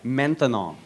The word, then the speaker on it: maintenant: That's right, maintenant. Maintenant. 3 syllables, that's a long word for now.